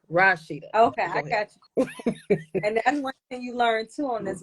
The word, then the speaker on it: Rashidah: to say y this my name the way you pronounce it is Rashida not Rashida it's Rashid like rock Rashida okay I got and